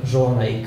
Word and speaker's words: Zsolnay: I am from Hungary, and this is pronounced as Zsolnay. is essentially the equivalent of Karl in Deutsch or Charles in English. And Zsolnay, well, there's no equivalent for that.